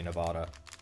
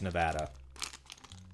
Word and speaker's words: Nevada: plate or Nevada plate the actual locals always make fun of me when I say Nevada it's Nevada like ad I believe not a nada I'm pretty sure anyway I'm pretty sure